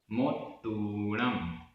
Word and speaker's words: मोत्तूणम: मोत्तूणम, मोत्तूणम, ता में बड़े ऊ की मात्रा है। मोत्तूणम।